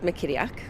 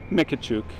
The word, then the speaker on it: McKittiak: Well, actually, you guys pronounced the name correctly. It's McKittiak. Mikachuk. But he pronounces it different. There's 6 of us in the family. Only he pronounces it like that.